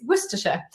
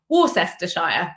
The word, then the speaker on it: Worcestershire: you're meant to say that worcestershire and not something along the lines of warcestershire or something else and this is really common so there are lots of words in street addresses that are not pronounced the way they look and that's complex so